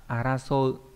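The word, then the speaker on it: 争う: Đây là chữ tranh, đọc là araso.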